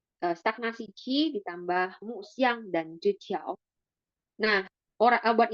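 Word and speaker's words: 陷: Nah, X I A N di sini bacanya Xian.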